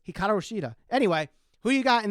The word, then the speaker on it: Hikaru Shida: Instead of saying Hikaru Shida, they say Hiraku Shida. So for those that are nitpicking there, it's Hikaru Shida.